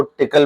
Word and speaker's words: Tcl: लिए एक टूल है टीसीएल के नाम से इसको टिकल भी प्रोनाउंस किया जाता है अच्छा सिस्को आईओएस